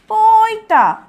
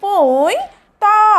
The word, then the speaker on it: পৈতা: প ঐকার পই এবং ত আকার তাহলে শব্দটি উচ্চারণ হয়ে গেল পইতা প ঐকার পই ত আকার তা পইতা এরপরের শব্দটি হচ্ছে শৈলি তালব